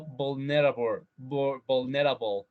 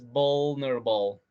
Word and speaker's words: vulnerable: Creo haber escuchado vulnerable, pero es vulnerable. Tiene 3, queda en 3 sílabas.